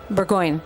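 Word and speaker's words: Burgoyne: Um in that song you named uh you name checked your then roommate Martin pronounce it for me Martin Burggon Burggoyne.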